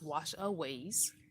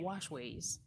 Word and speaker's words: Washaways: that um thing wrong it's wash aways not wash ways but i think it